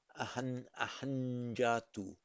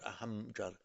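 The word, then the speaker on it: अहं जातु: So it's pronounced ahanjatu, not ahamjatu, ahanjatu.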